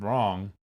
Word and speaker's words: wrong: And I would postulate that the silent W in the word wrong is what the W